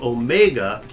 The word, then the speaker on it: omega: And this one at the bottom, Omega, is for O, like grow, snow, dough, go, and low, flow. So many O's.